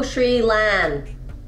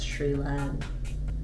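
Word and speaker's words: Xiu Lan: Go Sri Lan. X-I-U-L-A-N. That's how you pronounce Sri Lan.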